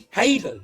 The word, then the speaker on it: Hadden: Is Shan Hadden, everybody.